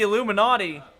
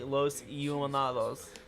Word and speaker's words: Los Illuminados: The Are you Illu- saying the Illuminati? The Illuminati? Also, she pronounced that wrong. That should be Los Illuminados.